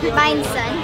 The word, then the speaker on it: Bánh rán: Bánh sán.